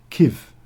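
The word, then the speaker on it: Kyiv: Kirk it was key Kiev was the Russian name of it and it's kiv I always always been the the pronounce gif that's the Ukraine pronunciation of it um but yeah but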